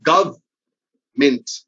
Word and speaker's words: government: such a funny word three letters are wasted by english er and are never pronounced but they are written they are written so